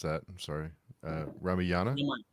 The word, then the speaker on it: Ramayana: Partha says Southeast Asia also worships characters of I'm going to mispronounce that. I'm sorry. Ramayana? Ramayana.